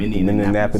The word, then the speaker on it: Minneapolis: you niggas out here who wanna refuse to pronounce Minneapolis correctly, Minneapolis. I got a problem with it. So How they I'm gonna need pronounce y'all it? nigga to respect this shit. And stop that Minneapolis.